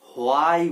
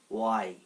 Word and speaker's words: why: এবারে যে ওয়ার্ডটা হচ্ছে সেটা হলো এটা WHY। হোয়াই বলি আমরা, হোয়াই। হো আসবে না বা হ আসবে না, এখানে সঠিক উচ্চারণটা হচ্ছে ওয়াই।